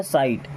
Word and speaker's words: sight: साइट SIGHT, अब यहाँ पे GH हो जाता है साइलेंट और इसे पढ़ते हैं साइट।